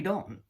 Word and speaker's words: 道: would lie in we don't typically, for Chinaman or old school Chinese, we don't use that word or the Chinese character we pronounce as Dao. The Japanese pronounce as Do.